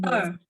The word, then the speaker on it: 二: 一、二、三、四、五、 Oke, 2 sama 4-nya masih perlu ditekan lagi, Bu. Ya, 2 nada 4, 二、 2. Terus 二、 4, 四。